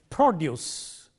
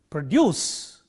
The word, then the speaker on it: produce: example a word like produce stress on the first syllable used as a noun produce stress on the second syllable used as a verb record stress on the